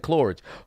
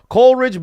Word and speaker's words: Coleridge: So CJ is Coleridge Bernard Stroud. I said Cloridge. Coleridge Bernard Stroud the 4th. So what the fuck is the J? Hold on, wait a minute. Coleridge Bernard Stroud the 4th.